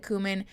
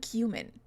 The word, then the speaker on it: cumin: now I'm calling it kumin just despite you all it's kumin it's not cumin I do not say